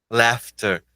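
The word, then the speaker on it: laughter: eu falo assim la lauter lauter Ops lauter essa essa é bem desafiadora lefter o GH vira vira um F lefter Fala aí lefter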